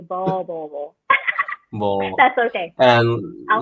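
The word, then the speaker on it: Beau: ค่ะโบ It's okay I know like it's like B-E-A-U โบ That's okay and I'll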